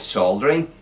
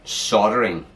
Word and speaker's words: soldering: We call it soldering, and Americans call it soldering. They don't say the L.